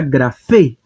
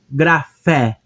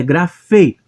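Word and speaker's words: γραφή: E temos aqui a palavra grafê. Grafê. Eu não digo grafé, é grafê. E. Esse eta no final tem o som de E.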